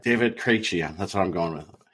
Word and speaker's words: Krejci: The hockey's most famous number 46 per the Hockey Writers article is David Krejci.